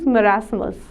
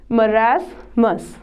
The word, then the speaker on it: marasmus: are number one is merasmus pronunciation of this is marasmus merasmus is the disease